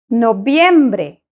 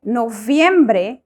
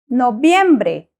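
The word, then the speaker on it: noviembre: born on October 15th no biembre no biembre remember the letter V in Spanish is pronounced the same as the letter B so we do not say no viembre we say no biembre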